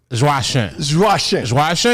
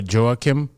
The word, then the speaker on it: Joachim: name i got josh russian is how you say it like the french way like sometimes i try to americanize it for people i would say joe kim joe kim yeah which is like joking noah like the player